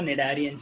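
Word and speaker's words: Cnidarians: Animal belonging to the phylum Cillian ट्रेटा are commonly called as Cillian traits और निडारियंस इनको हम बोलते हैं. ठीक है, सी साइलेंट है यहाँ पे, निडारियंस इन्हें हम बोलते हैं.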